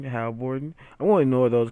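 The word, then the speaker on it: Haliburton: Halliburton. Halliburton.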